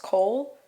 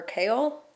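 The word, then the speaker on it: Chaol: also I say troll I've also heard it's supposed to be pronounced Cole or kale I'm going to say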